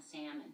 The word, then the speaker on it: salmon: I don't think they don't pronounce the L in salmon. Salmon.